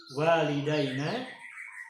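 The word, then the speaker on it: والدينا: Nah, sehingga tidak masalah kita membacakan walidaina atau membaca walidina.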